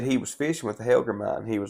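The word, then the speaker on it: hellgrammite: Well, we call them in the country here, we call them Helgemites. But I think it's Helgramite or something's how you actually pronounce it.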